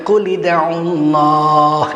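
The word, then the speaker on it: قُلِ ادْعُوا اللَّهَ: Qul ud'ullah. Dibacanya qul id'ullah.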